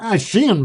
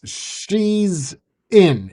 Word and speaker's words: Shein: Shein might sell main stuff, but it's actually I think we're saying it wrong. It's she's in is what it originally was, which is for like females.